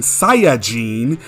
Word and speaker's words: Saiyajin: The long A sound is not present in Saiyajin. It has a short A sound A, followed by the vowel E, which can be heard all throughout the Japanese version.